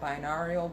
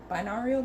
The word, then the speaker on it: binaural: way you say it binarial beats binaural beats i believe is the it is and um we're also